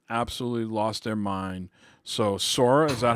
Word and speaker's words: Sora: smash and people absolutely lost their mind so sora is that how you pronounce it yeah that's the main main character